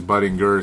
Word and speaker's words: Budinger: uh minutes Mr Budinger there's a million ways to pronounce the name but I suppose I guess it is Budinger since he said so if if there's any source that that should that should have it right it's him right oh yeah it's